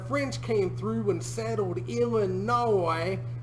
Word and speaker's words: Illinois: came through and settled Illinois. So the O-I-S isn't ois, it's oi because it's French. And if you really want to go ham into it, you do what I do and call Illinois.